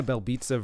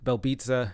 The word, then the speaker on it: Belbiţă: But taking a look at this matchup, Belbiţă, at least I believe it's pronounced Belbiţă. I've heard it pronounced that way by the commentators, not trying to be pretentious here.